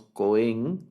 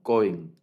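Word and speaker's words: כֹּהֵן: Para el sustantivo sacerdote, para el sustantivo sacerdote, el sustantivo es cohen y el acento en este sustantivo es en la primera sílaba. No decimos cohen, sino cohen, cohen.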